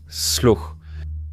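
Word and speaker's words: Clough: Donny Etis m'a demandé de dire slow. Alors Donny Slow. Ça s'écrit C-L-O-U-G-H.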